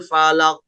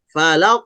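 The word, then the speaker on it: الفلق: Nah, Al-Falaq ini banyak terjadi bacanya seperti berikut. Qul a'udzu birabbil falaq. Nah, itu salah. Ya, karena harusnya dilangsungkan. Falaq. Falaq tidak ditahan.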